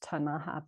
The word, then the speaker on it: Ktunaxa: And we're on the traditional lands of the indigenous Ktunaxa people.